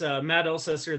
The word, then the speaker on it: Alsager: It's Matt Alsager. The A is silent, and it's not the first time that was closer than many get.